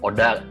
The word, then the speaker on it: ODHA: itu AIDS, terus ODHIV, ODA, itu jargon-jargon yang akhirnya memusingkan kita gitu. Oh, jadi bacanya ODHIV ya sama ODA ya? Tadi saya ODHIV, ODHA. Bener, jadi sebenarnya ODHIV sama ODA ya.